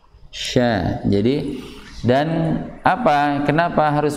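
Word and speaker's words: ش: Jadi ingat ya, shin dari keluarnya, tempat keluarnya itu lidah bagian tengah bertemu dengan langit-langit berada tepat di atasnya. Sya.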